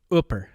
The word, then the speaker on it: Hooper: Hooper. Oh, definitely. Hooper or Hooper. Ooper. If you say Hooper, they kick you out. Yeah. Yeah. And then it's Ooper.